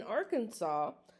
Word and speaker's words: Arkansas: Arkansas must be pronounced Arkansas. I guess some people do say Arkansas just to be funny, but and in Arkansas it is illegal to buy or sell blue light bulbs.